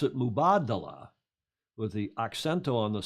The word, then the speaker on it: Mubadala: the slides this is the mood and they pronounce it mubadala with the occento on the second paragraph mubadala and the i'm going to have run a